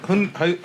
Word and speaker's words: Hyundai: Hyundai. Hyundai. So it's Hun, but with the Yun.